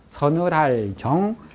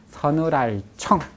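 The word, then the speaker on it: 凊: 겨울에는 온, 따뜻할 온, 겨울에는 따뜻하게 해드리고, 하정이라고도 하고 발음이 청이라고도 해요. 그래서 삼수변과 구분하기 위해서 정이라고 많이 하는데 청이라고도 해요. 서늘할 정, 서늘할 청.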